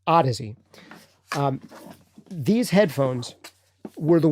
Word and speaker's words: Audeze: the how does he or I should say Odyssey is actually how you pronounce it I know it looks like it'd be out of Z or Odyssey but it's pronounced Odyssey um these headphones were the ones that were